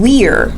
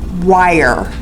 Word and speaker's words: Weir: They either try to spell it I-E or try to pronounce it wire.